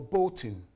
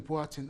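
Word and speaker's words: Boateng: a politician they used to call him Paul bin but the right pronunciation is botin I'm saying why at the same time there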